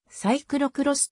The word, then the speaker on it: cyclo-cross: 自転車の車種朱黒クロスはフランス語読みであり英語ではさいくろくろすと発音される略語として